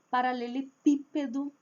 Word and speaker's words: paralelepípedo: Paralelepípedo, marca tônica na letra i.